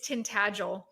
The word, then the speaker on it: Tintagel: But so by the way, I know it's another pronunciation. So it's Tintagel. It's Oh, Tintagel Castle. Tintagel.